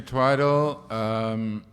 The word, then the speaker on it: Twidle: Hedley Twidle, who claims in one of his essays that nobody can pronounce his surname. I don't know why. I don't think it's difficult. It is Twidle, right? Yeah, okay, it's Twidle.